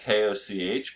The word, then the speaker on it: Koch: But if you ever heard of the Koch brothers, it's spelled K-O-C-H, but it's Koch, okay?